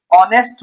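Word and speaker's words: honest: ऑनेस्ट मैन यहां भी एच आपका साइलेंट है।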